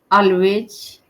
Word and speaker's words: always: Always, Always, always. Okay, always, always. always. Z towards the end.